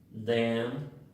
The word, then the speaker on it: damn: La 74, MN al final de palabra, la N es muda, entonces se pronuncia autumn, damn y solemn.